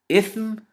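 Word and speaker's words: إثم: Ithm with a sa, with a tha, sorry, not a sa, tha.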